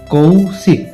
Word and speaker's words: কৌশিক: কৌশিক স্পষ্টতই লক্ষ্য করা যাচ্ছে যে শেষের ক টা পুরোপুরি উচ্চারিত হচ্ছে না। অর্থাৎ কৌশিক এমনি বলছি না। কৌশিক জাস্ট ক উচ্চারণটা উচ্চারিত হচ্ছে।